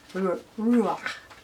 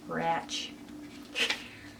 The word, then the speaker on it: Ruach: Ruach. That's how you pronounce that. Ruach. Ratch. Yeah, it's bad.